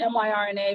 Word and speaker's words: Myrna: My name is Myrna, it's spelled M-Y-R-N-A, but it's pronounced Myrna.